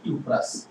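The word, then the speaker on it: cuprous: হ্যাঁ এটার তোমার কি নাম উচ্চারণটা হবে কিউপ্রাস আর আয়োডিনের জন্য কি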